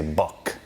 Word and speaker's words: Böck: Hadn't shown you this or shown you some of the other stuff that BÖCK makes. I think you say it like B-U-C-K, but we say BÖCK.